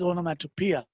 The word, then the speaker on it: onomatopoeia: And the last one for the day, everyone, the last one for the day is onomatopoeia. But spelling is like onomatopoeia, but you pronounce it as onomatopoeia.